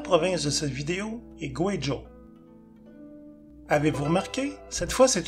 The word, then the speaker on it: Guizhou: Veuillez noter que, dans le nom de cette province et de sa capitale, le « U » plus le « I » se prononce « Wei » et non pas « Oui ».